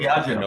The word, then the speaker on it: Diageo: It was, I think it's pronounced Diageo. I'm not sure. Diageo, yes.